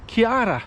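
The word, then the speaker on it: Ciara: I watch the news, they say Storm Kira. Now I know everybody pronounces names different ways, but when I saw the spelling, here's a word for you. How would you say it? It's C-I-A-R-A. But from my Italian bringing, C-I-A-R-A is Chiara, so it's Storm Chiara.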